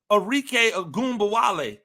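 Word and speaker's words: Arike Ogunbowale: it wasn't debated at nauseum on first take arque agba W that is how you pronounce her name it it was arque agumba W who got left off of the off the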